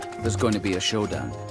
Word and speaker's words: showdown: There's going to be a showdown. 올바른 발음은 쇼다운이죠. 쇼당이라고 많이들 발음을 하시는데 얼핏 보면 꼭 일본어가 변한 것이 아닌가라는 느낌을 주기도 합니다만 내가 가지고 있는 패를 보여준다.